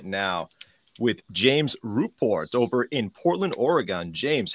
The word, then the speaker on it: Ruport: I love how you really pronounced Ruport and Oregon. Or- I, Oregon, I, Oregon. yeah, I really appreciate it though. Everybody gets my last name wrong. I've been called Rupert my entire life.